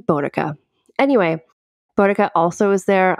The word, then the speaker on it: Boudica: to a conclusion and I pronounce it like Boudica.